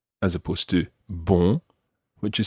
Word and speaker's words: bon: spelled bo n n e as opposed to ball which is spelled B or n listen to the difference